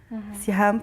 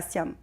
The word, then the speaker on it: Siham: Siam pour ceux qui prononcent le H.